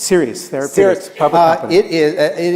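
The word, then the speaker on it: Seres: you chare a company called cus in my pronounce is correctly s e r s series therap uh it is it is it recently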